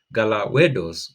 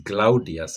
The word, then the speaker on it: Gelawdewos: Now, there is Galawe dos, which is Gelawdewos actually. Gelawdewos is is a name that is very common. Seems like it was very common in Abyssinia, but the Abyssinians used to pronounce it in a different way, like many other names actually.